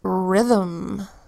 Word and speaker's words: rhythm: our next example is rhythm here the sound is a bit tricky because it's filled with a silent H so our H says